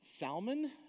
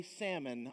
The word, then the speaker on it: Salmon: contains ruth it says now this word is pronounced salman but if you want to say salmon i'm not going to say anything about it